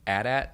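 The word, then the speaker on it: AT-AT: talking about earlier the wills arguing over the pronunciation of atat that's very funny or at at yes whichever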